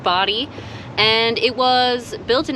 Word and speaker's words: Bodie: uh this is the body island lighthouse it is in fact pronounced body and it was built